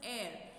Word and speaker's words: heir: HEIR, it is not pronounced as hair, it is also pronounced as air.